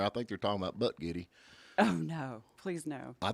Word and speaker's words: Buttigieg: I think they're talking about Butt Giddy.